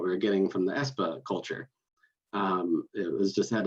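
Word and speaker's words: Espe: more recent fight that we have is called espa that's e-s-p-e you might have said sb that's how i used to say it until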